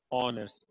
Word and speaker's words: honest: H is not pronounced, so we don't say honest, but rather we say honest. So we say an honest man, for instance.